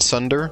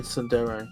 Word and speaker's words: tsundere: Most words that are Japanese, when spelt in English, have an E on the end that's supposed to be pronounced as A, like anime.